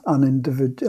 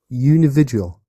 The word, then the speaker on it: unividual: I don't know how to pronounce unindividual. How do you pronounce it? Unividual. Unividual.